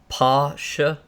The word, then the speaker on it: Porsche: And they pronounce it like Pasha. It's like it was like a pa instead of por.